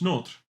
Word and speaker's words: Notre: In French, Notre, like Notre Dame.